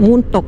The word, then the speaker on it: Mentok: Selamat datang di Kota Mentok, ada yang menyebutnya Mentok, ada yang menyebutnya Muntok, ejaannya bervariasi, teman-teman.